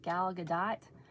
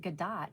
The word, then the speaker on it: Gadot: I've watched the movies with Gal Gadot. I always want to say Gal Gadot, but I think she pronounces it Gadot for some reason.